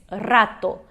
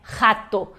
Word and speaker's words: rato: Porém, quando a gente começa no espanhol, às vezes não sai esse R forte. A gente não sabe muito bem a pronúncia do R, quer fazer o R do português. Então, talvez tu já tenhas ouvido alguém fazer ou já tenhas feito o som de, né, rato.